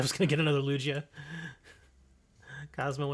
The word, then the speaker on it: Lugia: It's Lugia. Lugia. Lugia. I actually put it there in the middle.